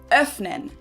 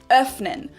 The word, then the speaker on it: öffnen: Now again, you can pronounce this umlaut either long or short, and when we pronounce it short, it sounds like and you'll hear it in words like öffnen, to open, öffnen, or können, can.